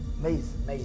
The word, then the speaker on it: Maze: Maze. Ouais, Maze. Comme Waze.